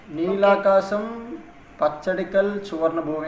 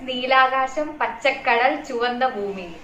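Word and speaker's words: Neelakasham Pachakadal Chuvanna Bhoomi: And there is a film called, I don't know the correct pronunciation, I'll tell. Neelakasam Pachadikal Chuvarna Bhumi, I think so. No, it is Neelakasham Pachakadal Chuvanda Bhumi.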